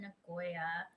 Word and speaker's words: Nagoya: Made forever friends with some of the officers from Nagoya." Did I pronounce that correctly?